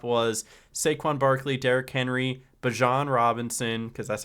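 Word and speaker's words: Bijan: Um, but it looks like uh it looks like the top was Saquon Barkley, Derrick Henry, Bjon Robinson, because that's how you say it.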